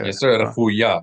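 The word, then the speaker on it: רפויה: Refuya. Accent the last syllable. Rifuya.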